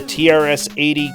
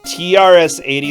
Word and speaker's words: TRS-80: it's so bad huh trs-80 is pronounced trash eighty I like it okay